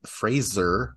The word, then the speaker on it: Fraser: the fact that Brendan Fraser I believe he he said like people don't ever pronounce my name correctly it's like more like a z I guess uh I'm